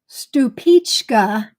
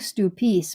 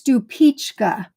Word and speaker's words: Stupice: Well, this next one, I must admit, I've been mispronouncing for years. Stupice is the correct pronunciation, where I've been calling it, I think Stupice, maybe Stupice, but I think Stupice. It's Stupice, and it is from Czechoslovakia.